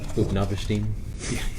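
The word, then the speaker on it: Utnapishtim: Upnavashtim? Yeah, you pronounce that very well, by the way.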